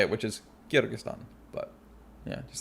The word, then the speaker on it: Kyrgyzstan: exists or how to say it which is kyrgyzstan but yeah just like it's not kurabati it's